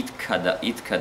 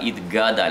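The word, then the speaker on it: יתגדל: Гадаль, не иткадаль, итгадаль, а слово гадоль. Очень много людей говорят иткадаль. Иткадаш, потом должна быть пауза, чтобы ше последнюю и ше следующую, в следующем слове первую ше разделить. Итгадаль, иткадаш, шмераба.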